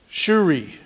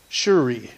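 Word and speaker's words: Tsuri: Wednesday nights amen and tonight's name is Jehovah shuri it starts with a T though TS r i but it's it's pronounced shuri shuri what is it what is it you're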